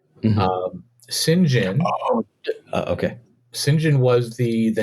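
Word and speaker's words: St. John: it was it was spelled like St John but pronounced singen and you know there's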